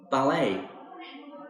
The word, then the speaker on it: ballet: me skiing not skying ballet notice the T in ballet is a silent letter fencing this is like